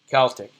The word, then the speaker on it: Celtic: Yeah, Celtic, pronounced with the S. I happen to be a Celtic person, but the football team would be Celtic, pronounced with the S.